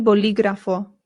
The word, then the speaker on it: bolígrafo: El bolígrafo. El bolígrafo. Remember, the accent means it is good. It is the stressed sound in the word.